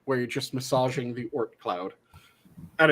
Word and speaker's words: Oort cloud: yo so there's a thing that is commonly mispronounced as orc cloud it's the oort cloud they sound almost identical one's a t one's